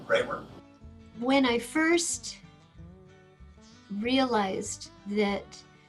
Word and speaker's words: Bremer: a county after her which produces dreamer county as we often pronounce now she would have pronounced her name ramer when i first realized that bremer county and frederica are